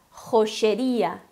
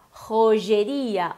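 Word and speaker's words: joyería: Bom, então a gente tem o J, que tem esse som, né? Ro. O Y pode ser G, X, depende o país. Então, na Argentina, por exemplo, tu podes escutar rocheria. Em outros lugares, podes ouvir rogeria ou rogueria, joieria, depende. Mas todas essas opções estão certas.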